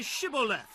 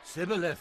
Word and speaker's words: Shibboleth: If he said no, then they would say to him, Then say Shibboleth. and he would say, Sibboleth. for he could not pronounce it right.